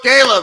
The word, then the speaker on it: Cailah: coach kayla okay my website is coach kayla kayla is spelled c-a-i-l-a-h same thing on instagram on twitter